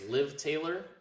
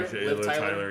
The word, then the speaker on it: Liv Tyler: Was I don't know how to pronounce her first name. It's only 3 letters. Liv Taylor. Oh yeah, Tyler. Liv Tyler. Yeah, Liv Tyler.